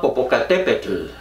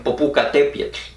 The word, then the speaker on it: Popocatépetl: pero que se llama popocatépetl yo así lo pronuncian muchos porque no saben pronunciar la del náhuatl en el agua desde el 5 morenos dicen popocatépetl bueno este volcán está